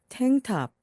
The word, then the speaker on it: tank top: N 다음에 나오는 K는 발음을 거의 하지 않습니다. 그래서 탱탑, 탱탑입니다.